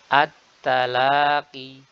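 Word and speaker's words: التلاقي: At-talaqi, at-talaqi dengan ta. At-ta.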